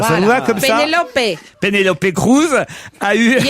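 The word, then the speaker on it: Penélope: Non, mais en espagnol, on prononce toutes les lettres. Pénélope.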